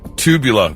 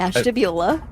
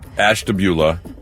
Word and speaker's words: Ashtabula: Tubula. What? Excuse me? Ashtabula. Ashtabula.